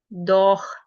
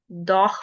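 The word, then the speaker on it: doch: हैं ए ओ यू इनके बाद अगर सेहा आएगा तो इसकी साउंड जैसे उर्दू में ख होता है उस तरह प्रोनाउंस होगी। आ ओ उ की साउंड के साथ से ह आ जाएगा। द साउंड विल बी ह फॉर एग्जांपल बोख बोख बोख मींस बुक दोख दोख means but moving to next इसी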